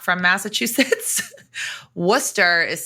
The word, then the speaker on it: Worcester: but for people that are not from Massachusetts wer is spelled w r c s r it looks